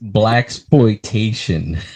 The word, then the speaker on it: blaxploitation: It's BLAXPLOITATION.